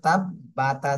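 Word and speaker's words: تَبَّتْ: রাহিম তা জবর তাব্বা তা জবর বাত তাব্বাত তাসদিদ থাকলে দুইবার পড়তে হয় তাসদি হরফ যে হরফে তাসদিদ থাকবে এটা দুইবার পড়তে হবে একবার আগের হরকতের সাথে আরেকবার নিজে নিজে তাহলে এই বার উপরে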